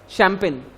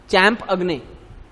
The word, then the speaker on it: champagne: शैंपेन की spelling क्या है? CHAMPION, वो चैंपियन हो गया, करेक्ट। उसकी स्पेलिंग क्या है पता है शैंपेन की? CHAMPAGNE, चैंप अग्ने। ऐसे पढ़ने जाओगे तो तुम उसको चैंप अग्ने पढ़ोगे, बोले चैंप अग्ने पढ़ा बोले हमने कल।